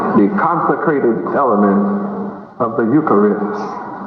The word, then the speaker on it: Eucharist: receptacle for the consecrated element of the ukari the consecrated element of the Eucharist how many have never heard about ukar is spelled EU c h a r i s